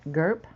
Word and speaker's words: Gerp: okay we've got a her name is what gerp gerp is a good name for her rhymes with slurp um i think her